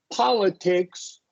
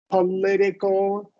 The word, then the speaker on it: political: We haven't covered syllables, but when it's politics, when a verb ends, a word ends in IC, the syllable before will get the emphasis. Politics, political.